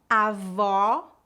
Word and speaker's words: avó: diferença agora vamos praticar as palavras avó com o aberto e avô com o o fechado repita depois de mim